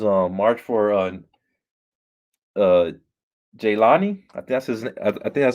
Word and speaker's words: Jehlani: march for uh uh jaylani i guess i think i said i see your name that's how you say his name jelani uh he's this he